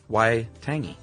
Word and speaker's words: Waitangi: So that uh Waitangi, as you said, the treaty, um is pronounced Waitangi. Which is the W sound is the W sound in that one.